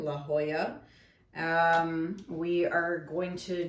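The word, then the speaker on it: La Jolla: going to check out La Hoya yes I pronounced that right this time La Hoya um we are going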